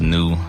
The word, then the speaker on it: GNU: GNU, pronounced new. The G is silent.